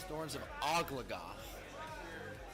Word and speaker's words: Thorns of Ogo: the crowd so just to confirm the proper pronunciation of that second fighter is Thorns of Ogo bit of a mouthful but for the duration